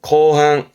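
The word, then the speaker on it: 後半: 발음은 거항, 거항.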